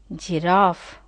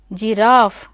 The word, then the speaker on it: giraffe: If you see here, JRAFFE, see the pronunciation over here, giraffe, giraffe. See, long A is there. In British phonetic transcription, you find long A, giraffe, giraffe, giraffe, giraffe, giraffe.